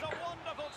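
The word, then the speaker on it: Koch: It was Cook. That's how he pronounced it. K-O-C-H. Cook.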